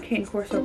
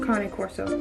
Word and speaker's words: Cane Corso: there on the couch sorry not cane corso Connie Corso it's a proper way to say it which I've never had